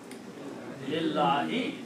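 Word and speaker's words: لِلّٰهِ: You don't have to pronounce the first letter of it.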